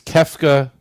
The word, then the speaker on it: Kefka: Kafka That's it. 4. Okay, well, I don't know. Okay, wasn't clear. But I pronounced it more like the author that wrote the Metamorphosis.